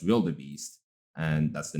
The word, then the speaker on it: wildebeest: Also, wildebeest, almost every student pronounces it as wild beast.